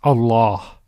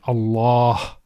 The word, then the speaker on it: Allah: The lam with the shadda is pronounced with tafkhim, with heaviness. So, as we said, Allah.